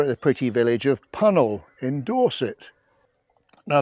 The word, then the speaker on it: Puncknowle: the pretty Village of pel in Dorset now the name's got a slightly unusual spelling but basically it rhymes with funnel and it's located about